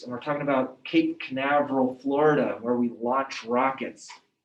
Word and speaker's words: Canaveral: chris read this paragraph in cape carnival florida it's canaveral okay they launch rockets next